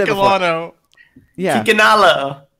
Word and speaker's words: Kikanalo: How do you spell it? How do you say it? Kikalano. I just realized I never said it before. Yeah. Kikanalo.